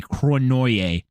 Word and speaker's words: Cournoyer: Yeah, no, they say it like with the R at the beginning. They say Cronoyer.